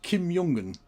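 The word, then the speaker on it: Kim Jong Un: So, Kim Yongun, the the current leader of North Korea, apparently is Kimyongen.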